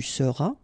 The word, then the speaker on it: seras: Then tu seras, final S not pronounced, tu seras.